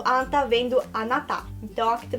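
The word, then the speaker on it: あんた: E a pronúncia não é anta, tá? É anta.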